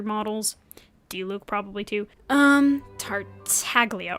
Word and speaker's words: Tartaglia: Um, Tartaglia or Tardalia. Why' I say that? So maybe I should not say it, but say things like that. But I think Tatalia is technically how it's supposed to be pronounced.